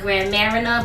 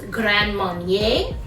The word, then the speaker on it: Grand Marnier: using some grand marnier i like to call it grand marina but that's not the way you pronounce it it's grand marnier and um for to